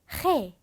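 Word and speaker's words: ge: 네, 여기서 히읗 소리가 나오는 거기 때문에 해 이렇게 소리를 내주셔야 합니다.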